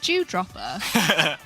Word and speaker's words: Dewdropper: Right, you've got to pronounce it like a good English person. Dropper. There you go. Do you dropper? Because otherwise it just sounds like you're going around like dropping Jews.